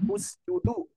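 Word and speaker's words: اسجدوا: Nah, ketika dibaca dhamma apabila huruf ketiganya berharokat dhamma. Dhamma. Udkhulu, usjudu.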